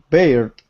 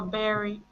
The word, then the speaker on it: bared: D ending, like ID ending, or just D? Bared or berry? Berry. No. It's just the D.